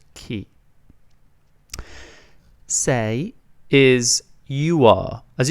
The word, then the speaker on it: chi: It's pronounced chi.